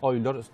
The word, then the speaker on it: Euler: tenemos matemáticos famosos como euler que es el nombre castellanizado que se pronuncia hoy loro el matemático más importante